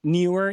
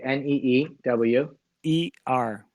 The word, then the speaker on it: Neewer: But I just Neewer is a brand that is a Chinese brand that has really cheap things that. How do you spell it? N-E-E-W. Okay, N-E-E-W. E-R.